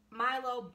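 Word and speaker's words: Mylo: his name is going to be Milo, so it is Milo, but it's spelled a little differently. It's gonna be spelled with a Y instead of an I, so it'll be M-Y-L-O.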